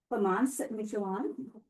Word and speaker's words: Clémence Michallon: Tonight I am honored to introduce Lamance Mitchell and Pem is going to be our moderator. I was applauding your pronunciation not you nailed it.